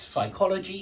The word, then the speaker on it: psychology: PS at the start psychology Psychiatry psychologist Psychiatric Hospital don't pronounce the P whenever you've got an